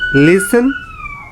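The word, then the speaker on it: listen: Silent T, লিসেন, castle, fashion.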